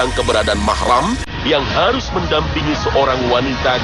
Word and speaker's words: mahram: Selama perjalanan dengan begitu kata-kata muhrim yang sering diucapkan masyarakat dalam konteks ini tidaklah benar yang benar adalah mahram Jika seorang wanita yang